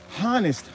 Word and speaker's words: honest: honest they don't even they don't even pronounce the h onest honest honest you have